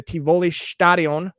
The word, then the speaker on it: Tivoli: They're going to be playing two home games in the Tivoli. How was that pronunciation, Silus?